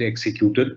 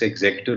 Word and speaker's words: executor: the will, or which we all end up pronouncing it executor. It's not executor, it's executor of the will, is in 2C.